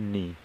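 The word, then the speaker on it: knee: गया है घुटना घुटना को क्या कहते हैं नी यहां पर आपका के भी साइलेंट यानी कि यहां पर नी इस प्रकार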